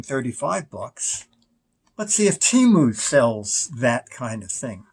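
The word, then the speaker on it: Temu: the name Rachel okay she said it's simply t-u M all right so I thought well you know what in instead of spending 35 bucks let's see if Teemu sells that kind of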